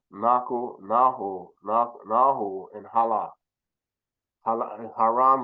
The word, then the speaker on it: Haran: nah nah and Hala haran would be pronounced halah in Kong okay let's go to